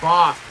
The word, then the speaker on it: Bath: Bath. See, that's how it's said. It's how it's pronounced correctly.